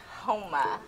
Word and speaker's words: Houma: Houma.